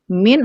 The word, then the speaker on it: mean: ada tiga ya ada mint atau rata-rata bacanya jangan mean ya min min atau rata-rata kemudian ada